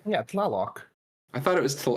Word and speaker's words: Tlaloc: No, it's TLALOC. Yeah, Tlaloc. I thought it was. I probably pronounced that Tlaloc because it's an Aztec word.